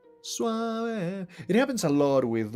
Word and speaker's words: suave: is in Spanish and the e at the end the e it's pronounced as e. So suave suave it happens a lot